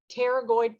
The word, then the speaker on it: pterygoid: that is your lateral pterygoid process so it's a pt word so the p is silent okay lateral pterygoid processes